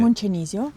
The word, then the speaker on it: Moncenisio: Mont Cenisio. Monte Cenisio.